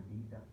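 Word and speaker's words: beta: Internationally standard YouTube पर अगर आप लोग चेक करेंगे तो ये बेटा या बेटा पढ़ते हैं, तो हम लोग पाकिस्तानी बीटा पढ़ते हैं. तो प्रोनाउंसिएशन ग्रीक लेटर की आगे बेटा जो किया है वो सबसे बेस्ट है और रियल प्रोनाउंसिएशन यही है.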